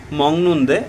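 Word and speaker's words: 먹는데: মগনদে মংনদে ব্যবহার হয়েছে আবার মগনদে উচ্চারণ করতেছি কারণ গয়বাক বাচমের পরে নিয়ন আসলে গিয়কের উচ্চারণটি ইয়ং এর মত হয় এজন্য আমরা বলতেছি মংনদে এ বলছে যে খাই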